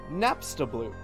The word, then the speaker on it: Napstablook: someone educated me and the way to pronounce this man's name is napstablook napstablook 22-a send you a